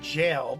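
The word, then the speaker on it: gaol: Oh, I like the fact that they actually spell it G-A-O-L. I believe it would simply be said jail, but it's an older spelling.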